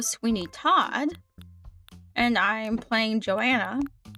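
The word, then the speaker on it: Johanna: Todd, and I'm playing Joanna. Joanna. I I think that's I think that's how you say it. Joanna, not Joanna. Joanna. The H is silent.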